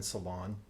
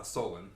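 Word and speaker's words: Solon: there's another one in Salon am I pronouncing that right uh Solen Solen I'm not native not native I I haven't heard anyone call it Salon before I'm thinking of like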